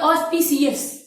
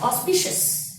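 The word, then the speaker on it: auspicious: अब हम आएंगे ऑस्पिशियस, इसको कुछ लोग बोलते हैं ऑस्पिशियस, ऑस्पिशियस।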